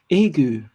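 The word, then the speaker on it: ague: And so, wait, let me listen to how it's pronounced. Agu.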